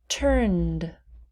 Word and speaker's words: turned: not pronounce that listened turned turned we do not pronounce the e wished wished picked picked